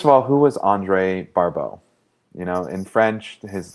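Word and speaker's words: Barbault: So, first of all, who was Andre Barau? You know, in French, his last name is pronounced Barau.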